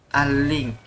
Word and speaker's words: align: cast onto the screen aligns. Ini bacanya ini alik kayaknya. Align. Oh, align, bukan G-nya nggak kebaca ya.